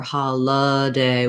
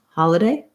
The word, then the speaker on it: holiday: then the letter i we're going to use a reduced vowel so you can use an e sound or an uh sound it doesn't matter too much as long as you're not holding that syllable too long so you don't want hallelujah or holla day with a long vowel as long as it's quick holiday holiday you can hear you